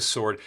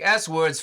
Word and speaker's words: sword: uh sword or sword it's spelled sword it's a sword people are just too lazy to pronounce the W and I get it I am too I'll take swword for 100 Jack with